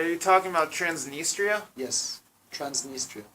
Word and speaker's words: Transnistria: it's like are you talking about transnistria yes transnistria transnistria yeah so they have different centers in different